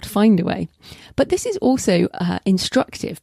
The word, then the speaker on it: Findaway: but as in in if it's pronouncing it finned not find then spell it in